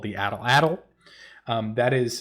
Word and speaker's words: atlatl: But I wanted to talk a little bit about the little known spear throwing device called the atlatl. That is spelt ATL, just in case you need to spell it for some reason.